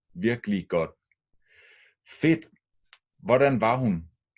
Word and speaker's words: virkelig: Remember two syllables when spoken. Virkelig. Virkelig godt.